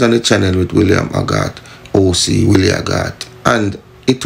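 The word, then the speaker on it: Hoggarth: It was Haggart. H-O-G-G-A-R-T-H. Haggart. You know? But it was mispronounced in our Jamaican Patois vernacular. You know? To sound like Willie Haggart. Yeah, man, Willie Haggart, the man run and roses, brother.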